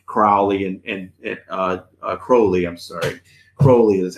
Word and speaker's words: Crowley: I'm sorry, Crowley is how you say it correctly.